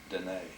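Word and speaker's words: Dineh: Special friend to the, and how do you properly pronounce D-I-N-E-H? Dene. Dene.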